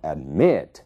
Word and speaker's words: admit: dependem da sílaba tônica observem o verbo admit a sílaba tônica é o me né A primeira sílaba a é uma sílaba mais fraca então admit é ali que está a sílaba tônica ele dobra se